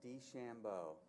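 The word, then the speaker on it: DeChambeau: four times in the top 25 she even pronounce this guy's name correctly bryson d Shambo I've been saying this for three days now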